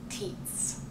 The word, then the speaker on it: Tietz: so it's very spontaneous my last name is pronounced TS it is spelled t i e TZ so there need not be any more confusion um it's German T T TZ and